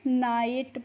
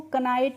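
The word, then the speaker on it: knight: नाइट पढ़ेंगे। के एन आई जी एस टी को भी नाइट पढ़ेंगे क्योंकि यहां पर जो के है यह क्या है? साइलेंट है। इसीलिए हम इसको कनाइट नहीं पढ़ते हैं।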